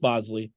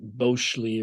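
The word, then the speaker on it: Boshley: Caleb Bosley, pronounced Bosley, but spelled B O S H L E Y, which is probably why everyone calls him Bos.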